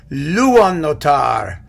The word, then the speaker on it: Luonnotar: masterpieces the tone poem luan notar which is probably close to how you pronounce it in finnish but since i'm not i'm just going to call it luannotar because it's easier and i am going